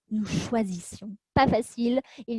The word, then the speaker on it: choisissions: non plus à prononcer, puisque vous avez d'abord le son ch, ensuite le son z Et ensuite, le son S. Nous choisissions.